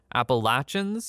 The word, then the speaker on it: Appalachians: just want to say I did read that comment that said I've been saying Appalachians wrong it's a regional thing I think I'm Canadian so I pronounce it the British way appalachin I think is a more I don't know American way of saying it so sorry it's